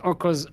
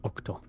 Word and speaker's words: Orco: Yeah, so it's Orco's map pick. I keep saying Octo for some reason, because my brain is an idiot. But it's Orco, not Octo.